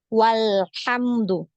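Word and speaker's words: والحمد: a-nya ini tadi ya Hamzah wasalnya ini berarti tidak dibaca lagi ya dianggap tidak ada Jadi kita bacanya walamdu Ya seperti itu ya Ini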